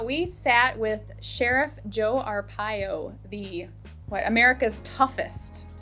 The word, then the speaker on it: Arpaio: In Arizona, we sat with Sheriff Joe Arpaio, America's toughest, right?